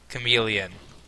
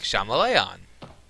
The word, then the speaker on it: chameleon: ] you just say chameleon deep-seated confusion and displeasure but no because it's chameleon if you don't know how pronounced chameleons you think shamili on you'll see you get